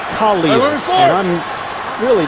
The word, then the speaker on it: Khalil: And he prefers his name to be pronounced Khalil, and I'm really not going to question it.